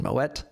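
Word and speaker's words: Moët: Moet is a delicious champagne brand, which actually has Dutch origins. That's why you pronounce the T in Moet.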